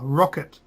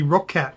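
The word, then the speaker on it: Roccat: or the rocket cover that's how they pronounce it in the uh the trailer rocket I thought it would be rockat cuz there's like a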